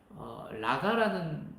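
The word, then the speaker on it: ריקא: 라가는 히브리어 가장 비슷한 우리나라 단어가 없어요. 발음 기호가 없습니다. 그럼 어떤 발음일까요? 우리가 보통 아저씨들 이렇게 가래침 뱉을 때 있죠. 속에서 막 목에서 이렇게 끌어올라서 가래침 뱉은 그 소리가 이 라가라는 말입니다.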